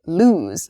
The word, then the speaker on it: lose: pair is loose and lose loose and lose you can hear maybe the the difference in vowel sound loose and lose so loose is an